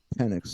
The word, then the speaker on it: Penix: You watch film of Penix all day. It's crazy too because sometimes the X is pronounced like an S.